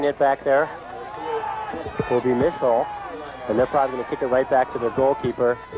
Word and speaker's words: Mischel: We've been pronouncing Mischel's name wrong. We've been saying Mischel, but it's Mischel.